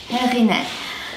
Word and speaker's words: Heghineh: name many of you are asking how to pronounce it happiness to get 10% discount and then you can